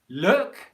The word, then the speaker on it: look: short u vowel sounds so luke which is a name in english luke luke luke is a long o vowel sound luke luke luke look is a short english vowel sound look look look so